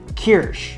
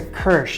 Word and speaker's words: Kirsch: Made the walnut cake and I used this and people were correcting me in how I pronounced it. So I think it's Kirsch.